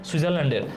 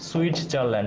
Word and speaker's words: সুইজারল্যান্ড: এর জন্য সুইজারল্যান্ডের, সুইজারল্যান্ডের জেনেভাকে বলা হয় সুইটজারল্যান্ড। তাই না? উচ্চারণ হবে সুইজারল্যান্ড।